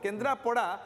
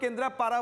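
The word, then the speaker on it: କେନ୍ଦ୍ରାପଡ଼ା: इंग्राजी लेखाटा पढ़ो तो तार उच्चारणटा सेपरी भाव में केन्द्रापड़ा किंतु केन्द्रापारा बोलिकी आम प्रोनाउंस करूँ सबुठ बड़ आश्चर्य होची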